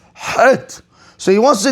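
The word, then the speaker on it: חית: Yes, it's not chet, it's het.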